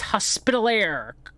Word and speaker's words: Hospitalier: John of Jerusalem, Knights Hospitalier, Commandery of Florida, which is it is pronounced hospitalier.